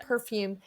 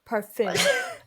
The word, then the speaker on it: parfum: how to say it because it's not perfume. I know. Anyway, how do you say it? Perfume? Parfum. I don't know. I have it written out. Parfum, right? Parfum.